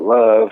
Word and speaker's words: LXVE: So brand I came up with, Love. It's spelled LXVE, stands for love and value everything.